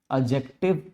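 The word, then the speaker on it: adjective: एडजेक्टिव जब आप बोलते हो एडजेक्टिव तो एडजेक्टिव में भी आपका जो डी होता है वो साइलेंट होता है।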